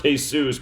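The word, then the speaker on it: Jesús: year old with the name Jesus of course pronounced hey-zeus but you can just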